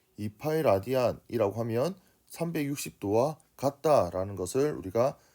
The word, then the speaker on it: 라디안: 쓰는 건 RAD라고 쓰고 라디안이라고 읽습니다.